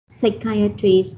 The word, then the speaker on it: psychiatry: Psychiatry, the stress is on the second syllable, but psychiatric is on the third syllable.